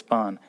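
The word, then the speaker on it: पान: Parn, Pan, that is leaf, is pronounced as Pan.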